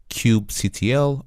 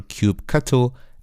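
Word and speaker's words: kubectl: is by using this command line application called Cube CTL or cube cutle as many people pronounce and basically with Cube cutle or cube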